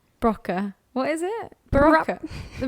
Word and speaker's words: BRCA: BRCA. BRCA, that's it. That's how you spell it.